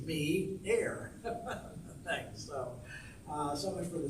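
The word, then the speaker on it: Meio: They don't know how to pronounce M-E-I-O, geez, it does say me-air.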